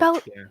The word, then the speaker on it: Beldre: I can't pronounce it. Beldre. Beltray, I think. Beldra. Beldra. You had it Yes, right. Yeah, Beldra.